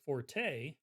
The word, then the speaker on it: forte: I finally realized that there is a difference between the pronunciation of forte, like this, which is from Italian, which is a musical note, and fort, which is from the French, which means that something's your strong suit. You're not supposed to pronounce the E at the end.